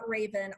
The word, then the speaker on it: Rayvan: the Raven group calm so it sounds like the bird but it's spelled completely different so it's Raven RA ybn group calm